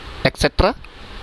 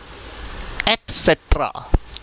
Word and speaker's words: etc.: एक्सेट्रा? नो. इट इज एटसेट्रा.